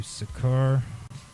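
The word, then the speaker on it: Seker: good okay so now I'm going to do sakur s or sakur it's spelled s e k e r Capal S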